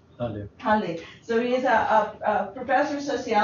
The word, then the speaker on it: Halle: Is it Halle or Hall? Halle.